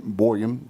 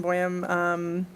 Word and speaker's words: Boehm: new business which is Boyan did I pronounce that right on the walkability accessibility audits is with the Salina Art Center welcome can you hear me okay yeah thanks again my name is Boehm I'm here today to